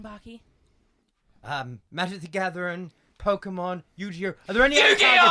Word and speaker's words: Yu-Gi-Oh!: Yu-Gi-Oh! Fucking you son of a bitch! I told you to pronounce that properly! It's my religion! Yu-Gi-Oh!